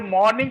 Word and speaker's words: morning: ये जो मॉर्निंग शब्द है ये मोर नहीं है, इसमें हम आ बोलेंगे, लंबे वाला आ बोलेंगे, माँ, फिर उसके बाद एन